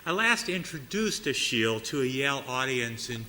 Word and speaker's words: Achille: And I had to look it up how to pronounce it, because like, his name's Achille, what? It's Achille.